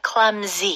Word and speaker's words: clumsy: Clumsy. 네, 스펠링은 C-L-U-M-S-Y이지만 네. 발음은 Z로 해주세요. Clumsy.